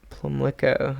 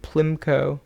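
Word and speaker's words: Pimlico: Plumlico. I've seen a million buses there. Buses, bound for that place. I don't really know how it's said. For quite a while I realized I was calling it Plimco, and that's not what it is at all.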